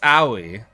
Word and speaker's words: Aoi: It's just Aoi. Aoi. You don't pronounce the O. He just said it, Aoi. It's Aoi. Aoi. Like Aoi. But Aoi, just without a hard W.